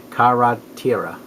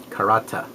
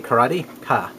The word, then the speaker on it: Karateka: Karatira, or Karateka. It says it right there as clear as day. Karate-ka. There you go.